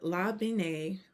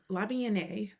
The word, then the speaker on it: La Bien Aimée: Uh La Bien Aimée. La Bien Aimée.